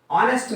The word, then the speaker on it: honest: For example, this is honest man. H is silent here.